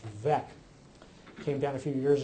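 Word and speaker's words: Veeck: Uh, interestingly this this case at the bottom which I understand is actually pronounced vec came down a few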